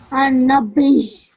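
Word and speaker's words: النبي: Okay, and how I would bring this together would be an-nabij. An-nabiyyu. Okay, so a slight j sound at the end. Okay, because I'm joining the ba to the ya.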